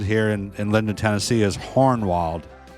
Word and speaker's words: Hohenwald: of old Holland um hornwald Road it's spelled Hohenwald Road h-o-h-e-n-w-a-l-d um the way you pronounce it here in London Tennessee is hornwalled with an R h-o-r-n-w-a-l-d so hornwald is how you pronounce it so you know hornwald